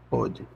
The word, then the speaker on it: pôde: Pôde. Com a pronúncia pôde. O O fechado. O fechado. Conjugação no pretérito perfeito do indicativo, ficando a cargo do contexto a diferenciação da forma no presente.